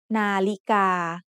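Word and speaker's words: นาฬิกา: Nalika has 3 syllables. The first syllable is made up of Nonu and Sara'a. The second syllable is Lọ Jula and Sara'i. And the third syllable is Gokkai and Sara'a. The tones in the word Nalika are mid-tone, high tone, and mid-tone. Nalika.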